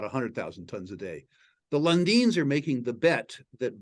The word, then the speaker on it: Lundin: Pronounced Lundin. Lundin.